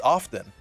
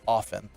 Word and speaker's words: often: And I say, oh, it's often. He goes, incorrect. I go, I don't know how else to pronounce it. He goes, it's often. And he says, I work for the Associated Press, so I know how it's pronounced.